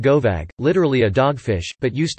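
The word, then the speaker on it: gobbag: This is Glioan or Glian Gobig, pronounced Govag, literally a dogfish, but used to mean someone from.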